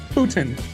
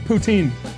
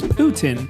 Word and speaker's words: poutine: I just found out that's the way you pronounce it, too. Putin. I always said poutine. Now, I understand this is a French dish and the correct pronunciation is Putin, but as an American, is it really wrong if I say poutine?